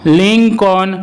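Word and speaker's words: Lincoln: যেমন kernel, kernel এটিকে কিন্তু আমরা অনেক সময় কর্নেল অথবা কলোনেল বলে থাকি, যা কিন্তু সম্পূর্ণই ভুল উচ্চারণ। লিঙ্কন, লিঙ্কন ইত্যাদি।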